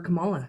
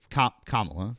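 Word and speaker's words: Kamala: It's I could not vote for Camala. She was full of platitudes and didn't offer anything for us. Okay. Uh well, so Kamla, right?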